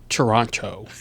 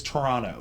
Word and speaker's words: Toronto: in there actually it's Toronto as I would hear it from every Canadian person I've ever talked to really yes I got everyone they were like it's Toronto you don't pronounce the second T I know Toronto hard